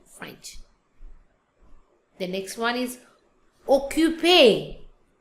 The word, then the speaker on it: occupé: The next one is occupé. Occupé. The sound is A.